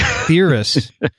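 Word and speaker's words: Pthirus: how to pronounce well i think the p is silent right so it would be theorists dearest pubis you know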